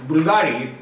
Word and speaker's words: Bvlgari: it's bbl gari but when you pronounce it it's simple bulgari this is you or